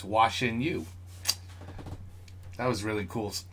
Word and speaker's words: 晨宇: Chenyu. Chenyu. See that? So in English, it's watching you. So it's Chenyu.